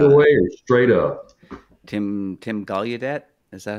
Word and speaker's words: Gallaudet: Tim Gallaudet, is that how you pronounce his name? Gallaudet, yeah.